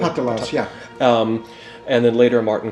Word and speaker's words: Patalas: With this process, there was a 30-year sequence of time in which people like Patalas, am I pronouncing that correctly? Patalas, yeah.